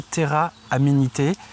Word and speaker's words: Terra Amenité: lancée il y a déjà de nombreuses années, Terra Amenité. C'est ça, je le prononce bien?